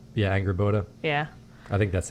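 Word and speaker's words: Angrboda: Angerboda. Yeah, Angerboda. Yeah. I think that's how you pronounce it.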